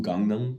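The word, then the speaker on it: Gangnam: one as a Korean person and being to gangam which is the correct pronunciation of it which is like obvious like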